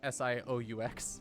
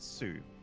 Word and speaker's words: Sioux: I think that's how you pronounce S-I-O-U-X. Six? I always called it Sioux. Sioux? Sioux Falls.